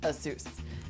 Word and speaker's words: Asus: if you ask Aus they'll tell you it's pronounced Asus either way it sounds like it's a pass